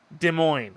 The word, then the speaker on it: Des Moines: I know the S is silent, virtual traveler. Des Moines.